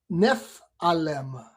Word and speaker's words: Nephilim: Say it like Nephalem.